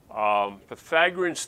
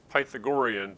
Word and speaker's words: Pythagorean: If you just try to sound it out, you might think it's Pythagorean, but that's not actually how we pronounce it. The guy's name was Pythagoras, and we call it the Pythagorean Theorem.